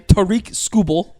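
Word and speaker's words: Tarik Skubal: Tariq Skubal.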